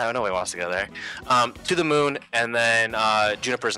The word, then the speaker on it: To the Moon: It's pronounced To the Moon. I was thinking of Pokemon, so... I've only seen that word read, that word, you know, in print before, so I don't really know how to pronounce it. So I'm pretty sure it's To the Mew. I had Pokemon on the brain, so I was thinking To the Mew.